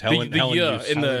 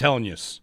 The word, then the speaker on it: Helenius: Yeah, use. The word use. Helenius. In the second part. 3 syllables. He said it. It's Helenius. Helenius.